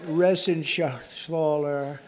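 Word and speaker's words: Reschenthaler: shaala you know that resen Scher he uh that's actually the way you pronounce it you know nobody else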